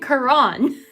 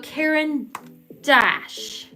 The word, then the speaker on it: Caran d'Ache: I've been saying Quran. Like, what? So Caran d'Ache.